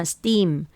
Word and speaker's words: steam: 어 지난 시간에 말씀드렸던 티가 S 앞에 있고 뒤에 모으면 뜨 발음이 돼요 그래서 스도 되지만 steam steam 이렇게 하면 돼요 그래서 이제 복음 밥이